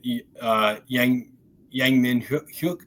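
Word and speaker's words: Yang Min-hyuk: In other news, which is relevant, Yang Min Hyuk, I believe is the correct pronunciation of our new winger, did arrive at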